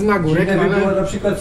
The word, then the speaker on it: Nagórek: to powiedzieć, deklinacja nazwy na górki Jabłoń. Teoretycznie poprawnie powinno się wymawiać, tak mi się wydaje, powinno się wymawiać z Nagórek. Natomiast jakimś sposobem, jakimś cudem w naszej rodzinie zawsze mówiło się z Nagórk.